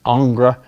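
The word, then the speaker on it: Ingres: hyper finished jacques-louis David Angra that's spelled ing re by the way or William Bouguereau all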